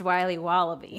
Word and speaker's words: Wiley Wallaby: Wiley's wallabies wallaby Wally's will be wobba beans pronounced Wiley wallaby well it's very good it's called Wiley wallaby and it's delicious JNL nutritional Consulting is